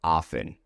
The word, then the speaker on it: often: But generally speaking, in everyday language, especially Americans will say often. Often. The T is entirely silent.